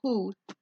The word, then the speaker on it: who: de qui y ese se pronuncia como la H suave H w o y por una razón se pronuncia como Who H todas las demás